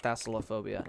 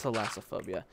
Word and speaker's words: thalassophobia: I low-key have, like, Thalassophobia. I think that's how you pronounce it. Thalassophobia. Not Thassilophobia. Yeah, no, it's Thalassophobia.